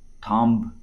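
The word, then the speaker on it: thumb: উচ্চাৰণ নহয় এইটো সাইলেন্ট লেটাৰ এই শব্দকেইটাত কিছুমান সাইলেন্ট লেটাৰ আছে এইটো ক্লাইম্ব বিটো উচ্চাৰণ হৈ পেলাই ক্লাইম্ব থাম্ব বিটো উচ্চাৰণ হৈ পেলাই এইটো থাম্ব ঠিক তেনেকৈ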